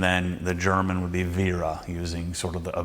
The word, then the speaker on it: Wera: It's pronounced, the Americans, or the North Americans, say Wera. I thought it was Wera, but it's Wera. Makes sense because there's not two R's.